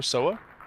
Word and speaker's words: Seoa: match against the uh Soa, is that how you pronounce her name? Yes. So, it's uh Sooa. Sooa. I I'm so used to just saying so so um but anyway she played fantastic.